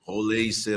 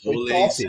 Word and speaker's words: Rollheiser: brasileiro de muitos anos, ele mandou um áudio para mim e falou: Roleiser, amigo. Que eu perguntei a pronúncia certa. Ele respondeu Não, o áudio assim: ó, foi Roleiser, top.